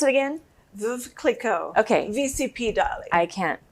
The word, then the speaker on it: Veuve Clicquot: So tonight, while she's opening our champagne, how do you pronounce it again? Veuve Clicquot.